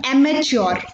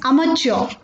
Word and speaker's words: amateur: लोग इसे usually mispronounce करते हैं amateur. I repeat, amateur. बट इसकी correct pronunciation is amateur. I repeat, it इज amateur.